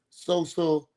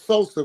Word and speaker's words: Sosa: me because his first coach was social and I haven't pronounced. I said social. Shit, you got me still. I don't know. It was Sosa because we was all